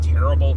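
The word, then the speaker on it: Tearable: excited about uh was Terrible Quest. So, good. Um, I am terrible at it. And it is spelled T E A R A B L E as in tear in a piece of paper.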